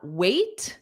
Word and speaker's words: waited: So waited is a is a id. Waited is itid.